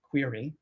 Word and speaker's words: QRI: Now, QRI, I think actually you're supposed to pronounce it query.